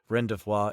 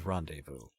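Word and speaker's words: rendezvous: Evidently, it isn't pronounced Rendevois, it is rendevous.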